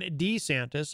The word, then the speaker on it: DeSantis: Florida, governor there, Ron DeSantis. You might have heard of him, or you might have heard him referred to as Ron DeSantis. Apparently, you can say his name either way.